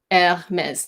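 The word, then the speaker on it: Hermès: a mess yeah mez Hermes there's an accent on the last e and it's the X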